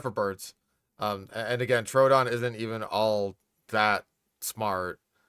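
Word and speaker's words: Troodon: Truden. This one is kind of a tiny terror. Truden. Uh, do we got butcher pronunciation? There it is. Truden. It's Trrodon.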